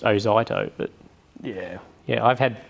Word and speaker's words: Ozito: Because I would take, like, say, a Zito. Yeah. How do you tell me off for saying it again? Well, it's actually pronounced Ozito, but yeah.